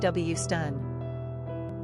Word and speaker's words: Houston: Pronunciation, Hewstun.